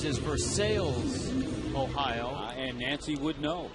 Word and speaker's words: Versailles: University in his hometown the way it's spelled you would think it's pronounced Versailles Ohio but I just got